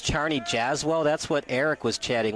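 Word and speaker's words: Czarni Jasło: I don't know uh Charney yzo is probably closer to pronounced Charney jazell that's what Eric was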